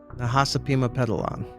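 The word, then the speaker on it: Nahasapeemapetilon: Do you know how to pronounce Apu's last name? Nahasapima Pedalon.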